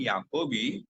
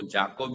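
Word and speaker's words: Jacobi: थे Harman scholar Harman याकूब ए सी ओ बी आई उसका spelling है जे का उच्चार य होता है तो जाकोब नहीं लेकिन याकोब तो याकोब ने एक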